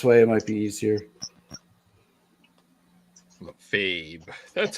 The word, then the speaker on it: Lefebvre: Fabe. That's how you pronounce that name.